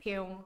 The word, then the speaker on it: Pioeng: Bacanya gimana? Pyong.